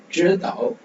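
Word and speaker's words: 知道: Next 知道知道 so ZHI 知知 so இந்த இடத்துல மட்டும் பாத்தீங்கன்னா DCH IRR இந்த மாதிரி 知 நாக்க 知知知 நாக்க மடக்கி ப்ரொனவுன்ஸ் பண்ணணும்.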